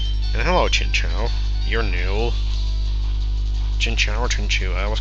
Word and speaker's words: Chinchou: Chinchou or Chinchu? I always call it Chinchou. Mostly because if it was Chew, then it would be spelled like Pikachu. So I think this is Chow.